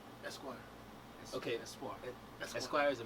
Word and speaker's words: Espoir: Espoir.